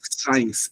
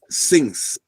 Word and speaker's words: since: It's not science. It's since.